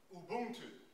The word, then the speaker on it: Ubuntu: the first page here, Ubuntu. And I'll spell that, U-B-U-N-T-U. And how that is pronounced is U, everybody say U. U. Boon. Boon. Tu. Tu. Ubuntu. Ubuntu.